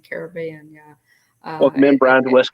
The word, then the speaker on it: Caribbean: kind of a thing most people that you hear say pirates of the caribbean say pronounce it that way current pirates of the caribbean uh with the you know the accent on the be in in caribbean yeah well men brown